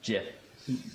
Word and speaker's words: gif: interchange format sure so he shortened it to gif thinking it would be pronounced jiff okay so easy like